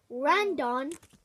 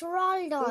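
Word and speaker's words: Rondón: Randon. Zaha. It's Rondon. Ward. And. How did you pronounce that name?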